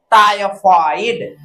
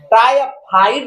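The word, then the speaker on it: typhoid: आय निकलेगा, तो tyre, टायफॉइड, टायफाइड नहीं है, टायफॉइड, फॉइड, टायफॉइड, फॉ है, फॉ, और निकलना चाहिए, फाइड नहीं है, टायफाइड नहीं है, फाइड, टायफॉइड।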